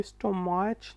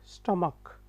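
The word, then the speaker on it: stomach: ये स्टोमाच नहीं है, स्टमक, ठीक है।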